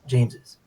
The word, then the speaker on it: James's: james's um i prefer james's okay i i'm okay with seeing it written as james but pronunciation wise to me i feel like it should obviously be pronounced james's okay and i feel